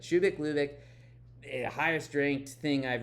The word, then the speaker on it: Shubeik Lubeik: video, but um so uh Shubik Lubik, which I had to again write at the top because I have been mispronouncing the title of this book for a long time after also telling a bunch of people to read Shubak Lubak, but Shubik Lubek, the highest ranked thing I've reviewed so far.